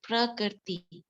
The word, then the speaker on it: prakriti: can also pronounce but actually pronunciation is prakriti okay thank you yeah